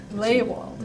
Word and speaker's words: Lehwald: me I have Richard Lehwald. Am I pronouncing that right? It's fine. That will do. Well, what is it? It's actually Lehwald. Lehwald. It's a German name. Okay. Okay, but most people say Lehwald.